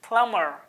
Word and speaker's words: plumber: नहीं मेरे भाई, यहाँ पे बी साइलेंट है तो हम लोग क्या बोलेंगे? इट्स प्लम्बर. Don't say प्लम्बर और प्लम्बर, इट्स प्लम्बर. That's it. B silent over here.